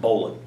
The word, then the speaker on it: bowline: line l i n e um but it's pronounced Bolan so we're going to learn the bowan this is the first of our knots to